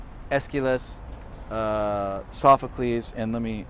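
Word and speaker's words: Aeschylus: is a playwright okay and you can spell it a e or just e and then the k is ch so a e s c h i l o s esquilas okay esquiles uh sophocles and let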